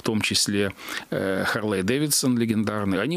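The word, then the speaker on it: Харли-Дэвидсон: он бы мог на Харлей Дэвидсон, на таком бренде раскрученном. Точнее, он назывался Харли Дэвидсон тогда. Это потом уже как бы, ударение перенеслось, транскрипцию да, сменили.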